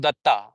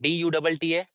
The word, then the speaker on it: Datta: So my name is Datta. In my country, we call it like that, Dutta, Datta. But in the receipt pronunciation, in British pronunciation, we call it like he said it Dutta.